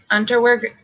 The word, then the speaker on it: Unterweger: Because the area around the Cecil Hotel was popular with prostitutes, Unterweger, that's how I'm pronouncing it, stalked these environs time and again in search of victims.